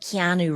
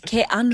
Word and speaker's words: Keanu: He's the one who broke it to me that it's not Keanu Reeves, it's Kanu.